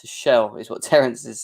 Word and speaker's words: Tuchel: In German, Tuchel is pronounced to shell, is what Terence is saying.